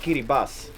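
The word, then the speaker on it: Kiribati: scary bus it's actually written kirti but it's pronounced Kiri Bas so that's a fun fact only the strange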